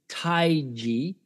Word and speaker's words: Tai Chi: study Tai Chi now I'll probably pronounce Tai Chi taiji because that's the Chinese way of selling it but he came